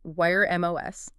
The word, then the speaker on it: Wyrm: They call it Wyrm. Wyrm like a dragon.